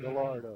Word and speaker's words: Gallardo: times look at it he pronounces the l gallardo gallardo second down to